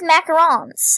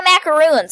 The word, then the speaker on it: macarons: wrong no they don't it's like with macarons everyone like oh my macaroons I'm like who wants I like got got the coconut cookie which is America